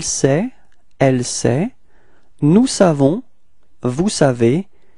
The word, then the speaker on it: vous savez: Alright, so now vous, and then we get this vous savez. Repeat. Vous savez. Okay, keep in mind that this ending EZ, okay, is pronounced like E.